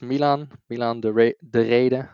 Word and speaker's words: Milan Dereede: But yeah, so my name is Milan de Rede. I'll pronounce it the Dutch way.